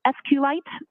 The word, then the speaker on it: SQLite: is explaining thiser and sqlite uh is also commonly pronounced as SQ light so both pronunciations are acceptable now once youed the